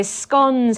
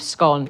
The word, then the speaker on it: scone: people do say scones it's kind of a a north-south divide in britain so scones have a really strong association with scotland and the scottish pronunciation of scone is scone but they